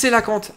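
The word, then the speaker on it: cœlacanthe: je l'aï enfin alors comment ça se prononce que là quand non le super tu sais que ça se prononce coelacanthe ah bah non je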